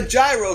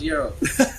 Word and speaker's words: gyro: You could even go right down the block and lounge it in a gyro shop. Yeah. It's actually pronounced Euro.